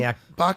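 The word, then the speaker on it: Bochniak: But this Kyle, how do you pronounce his last name? Bokniak.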